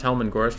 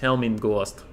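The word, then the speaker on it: Hellman Ghorst: You pronounced Helman Gorst wrong? No, I didn't. It's Helmin Gorst. Gorst of the Helmans.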